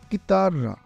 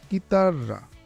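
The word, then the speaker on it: chitarra: যেমন চিব চি আক্কা ই একসাথে থাকলে উচ্চারণ হয় কি এর মত কিতাররা কিতাররা ইতালিয়ান ভাষায় কিছু শব্দে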